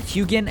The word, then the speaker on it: Huginn: These are no random birds, but Huginn and Muninn (pronounced with a y sound, like "Hyoo-ginn and Myoo-ninn"), the ravens from Norse mythology that gather information from Earth, and return it to Odin in Asgard.